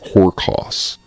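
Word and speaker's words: ὅρκος: The root word that comes from Greek is not spelled, but pronounced horkos. Horkos, which just means an oath.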